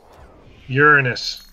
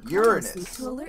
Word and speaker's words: Uranus: your okay oh jokes Uranus is how it's pronounced Uranus you that a devastating